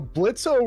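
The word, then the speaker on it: Blitzø: And that's how I feel with Blitzo. Except the last 2 episodes of this show, I will say, is a totally like a big character build for Blitzo. Blitz, the O is silent, but the build of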